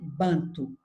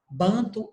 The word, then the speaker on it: banto: E a grande maioria do povo aqui era de origem banto. Banto ou bantô ou bantu, vocês encontram várias pronúncias. Aqui no Brasil a gente costuma falar povo banto.